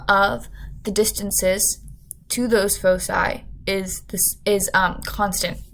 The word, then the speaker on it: Foci: before making this video it's pronounced Foci when it's plural yeah I'm proud of